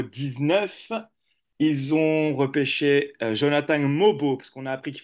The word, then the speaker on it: Mogbo: bayor en numéro 19 ils ont repêché Jonathan mobo parce qu'on a appris qu'il fallait pas prononcer le G euh je me rappelle plus